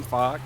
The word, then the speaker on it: Fawkes: literally has the name Fox well his is spelled Fawkes still pronounce Fox I'm a mod for